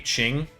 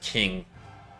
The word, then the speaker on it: Qing: And that's going to be Qing, China, which I have mispronounced this 100 times in this channel, and I've heard you all in the comments, so I hope I'm doing it correctly there. I've said King tons of times, but I think it's Qing.